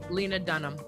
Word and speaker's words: Lena Dunham: Atlanta Denholm how do you say her name Lena Dunham yeah white privilege is Lena Dunham attacking Odell Beckham jr.